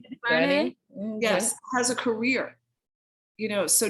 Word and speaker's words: DuVernay: DuVernay?